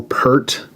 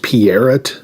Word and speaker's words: Peart: Remember how our whole lives we've always said Neil Peart? Wasn't it painfully aggravating when he suddenly started correcting everyone, saying it was pronounced Peart?